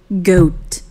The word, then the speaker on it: goat: 자, 여기서는 OA가 오. 오 소리 난다. 됐습니까? 네. 고트.